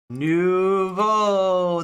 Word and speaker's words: nouveau: Nouveau. That's how I spell it. That's how I make the O sound. Just like bow, we get nouveau. That's how amazingly vowels work in French, right?